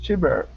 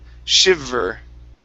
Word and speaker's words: shiver: shiver shiver try that shiber okay give me a good V instead of shiber it's sh shiver shiv uhuh One Last